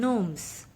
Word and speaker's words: gnomes: pointed hat now students look at the two words nights and gnomes you will see the spelling return and the way we pronounce is different this is because the letters k and g are silent in english language there are many such